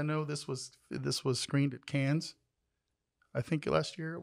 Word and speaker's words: Cannes: Is it Cannes or Con? It's Cannes.